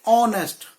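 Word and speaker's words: honest: हां साउंड नहीं होती ऐसे अवार्ड होते हैं जो ऐड से शुरू होते हैं लेकिन साउंड हार नहीं होती जैसे ऑनेस्ट कॉफी जस्ट अभी किशोर गौतम लेकिन स्पेलिंग क्या है एच ओ एन टेस्टी इसलिए में करता हूं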